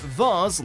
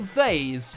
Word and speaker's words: vase: Actual linguistic studies have been conducted on different ways people can pronounce this word, whether it's said vase like Mars or vase like haze generally.